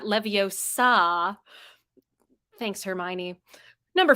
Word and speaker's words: Leviosa: It's Leviosa, not Leviosa. Thanks, Hermione. Number 4. Despite many people who pronounce it differently, Steve Wilhite, the creator of